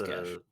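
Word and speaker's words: geas: Is it geese or gesh? It would be Gish. gesh. I've been calling it geese, so you know, Okay. it's gesh. It's It's how you're supposed to pronounce it.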